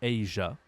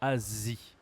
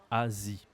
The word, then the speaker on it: Asie: l'Asie l'Asie l'Asie d'accord attention à la prononciation en anglais on dit Aja Aja en français on dit Asie Asie ok Asie quels sont les